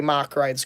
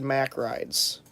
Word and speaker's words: Mack Rides: what i s now people say mock rides correctly but for the longest time i always heard mack rides um let's see what